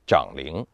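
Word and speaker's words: 长陵: 家说一下，有的文献说长陵不应该发音长，应该念长陵。为什么呢？它的理由是长是尊长的意思。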